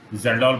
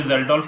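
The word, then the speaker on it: Kjeldahl: How much amount of nitrogen present in the core sample determined by Zeldol method. K is silent in this word.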